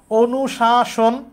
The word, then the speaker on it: অনুশাসন: এটাও খুবই সহজ, যেহেতু নয়ের সাথে উ আছে, তাহলে অ এর উচ্চারণটা কিসের মতো হবে, ও এর মতো, তাহলে এখানে অ আছে বাদ, এখানে অ আছে, এটাও বাদ। অনুশাসন, অনুশাসন, অনুশাসন তো আমরা বলি না, আমরা বলি অনুশাসন, তাহলে এটা উত্তর হইতেছে না।